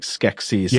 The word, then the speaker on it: Skeksis: faced whales you know now you're not pronouncing sexy in a funny way you're saying like Skeksis like in the dark Chris right the Skeksis of